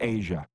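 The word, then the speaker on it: A'ja: gal whose name is spelled a apostrophe ja a a apostrophe ja a is pronounced Asia and I knew that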